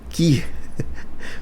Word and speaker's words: chi: É uma letra grega que é chamada de chi. Qui. Por incrível que pareça, a gente pronuncia qui, tá?